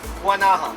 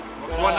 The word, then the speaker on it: Guanaja: Guanaja. Guanaja.